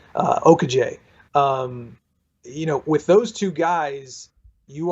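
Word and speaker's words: Okojie: George Mason point guard, Baraka Okaje, I believe is how it's pronounced. I talked to him yesterday, and he helped me out with that. Okaje.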